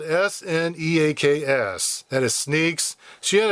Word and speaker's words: Sneaks: And it's spelled s n e a k s.